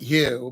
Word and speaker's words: Hugh: Is it Hugh or you? I pronounce it Hugh, but people have told me like H in this country is Hugh. But I've heard don't do that.